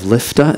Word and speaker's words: Lifta: So you went to the formerly vibrant town of Lifta. Is that how you say it? Yes, it is.